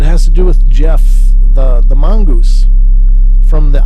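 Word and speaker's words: Gef: was in a spell g-e-f g-e-f but it's pronounced jeff whether jeff was a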